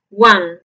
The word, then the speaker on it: one: semiabierta posterior no redondeada y produce un sonido similar a nuestra a pero no es igual porque es una a más cerrada y corta entonces la pronunciación correcta de uno inglés es One ahora veamos el número